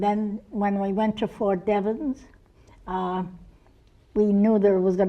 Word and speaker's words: Fort Devens: let's call Donnie Devon's okay to have its Fort Devens so you were somewhere prior to Fort Devens